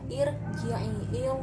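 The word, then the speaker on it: ارجعي: Barisnya kasroh, maka baca hamzahnya itu kasroh, irji'i. Kemudian kalau misalnya tulisannya begini, apa bacanya?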